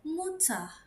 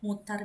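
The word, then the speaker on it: Mutter: Oke, dibacanya adalah main muta. Kalau aku main muta. Tapi misalnya teman-teman mau ganti er-nya tidak diganti misalnya dibaca aja tidak jadi a. Jadi mutar biasa itu boleh.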